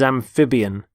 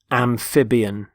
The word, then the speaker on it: amphibian: the first word is amphibian amphibian notice the stress on the middle syllable amphib amphibian there are animals such